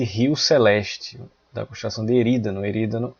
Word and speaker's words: Erídano: E na sequência, a gente tem a constelação de Erídano. Alguns pronunciam Eridano.